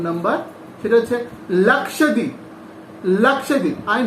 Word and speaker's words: Lakshadweep: Next one ইজ 4 number, সেটা হচ্ছে লাক্ষাদ্বীপ। লাক্ষাদ্বীপ, I know তোমাদের এই উচ্চারণগুলো একটু তোমাদের কাছে একটু প্রবলেম হবে, কারণ যেহেতু তোমরা নিউ তার জন্য।